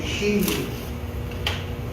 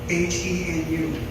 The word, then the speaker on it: henu: But we call it a henu. H-E-N-U, henu.